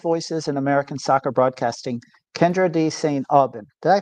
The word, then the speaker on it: Kyndra de St. Aubin: Today on the show, we're joined by one of the sharpest voices in American soccer broadcasting, Kendra D. St. Alban. Did I pronounce that right?